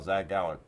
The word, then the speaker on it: Zach Gowen: You know, Between that and Zach Gowen, I'm surprised you didn't call Zach Gowen.